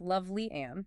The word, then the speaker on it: Lovely Ann: And it's pronounced Lovely Ann, just so everyone knows. Loveling Clark, got it.